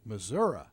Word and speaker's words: Missouri: Missouri.